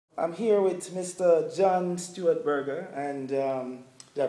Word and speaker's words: John Stuart Berger: John Stuart Berger, and did I pronounce the name properly?